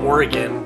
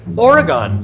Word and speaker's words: Oregon: Oregon or anything else ending in the sound gon is not an acceptable pronunciation.